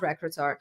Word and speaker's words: recruiter: That's why you say recruiter, recruiter, not recruiter.